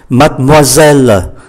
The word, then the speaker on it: mademoiselle: Mademoiselle, mademoiselle, như vậy có tất cả là 5 syllab. Mademoiselle. Chưa hết, chúng ta thấy ký tự ơ ở cuối không được phát âm. Ký tự ơ nằm giữa hai ký syllab khác cũng không phát âm. Như vậy mademoiselle 5 syllab, còn lại 3 mademoiselle, mademoiselle.